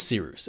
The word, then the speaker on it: Cyrus: you My name is Cyrus. It’s spelled like “Cyrus,” pronounced like “See Rooster,” just take out the “ter” Thank you very much for watching and have a wonderful day Peace.